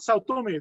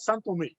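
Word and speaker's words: São Tomé: And you know, it's not Sao Tome, they call it San Tome. That's how they pronounce it there, San Tome.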